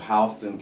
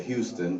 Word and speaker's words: Houston: I'm originally from a small town of Perry, Georgia, in what is called Houston County, and some people say Houston, but it's Houston County, but it's spelled the same way.